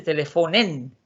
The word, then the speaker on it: telefonen: Telefonen, pero ojo y oído, porque aquí no cambia la acentuación. No se dice, si aquí dice teléfono, aquí no se dice telefonen, sino que la acentuación sigue donde mismo.